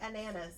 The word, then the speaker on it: Ananas: I'm going to say ananas. Ananas. It's like bananas without the B.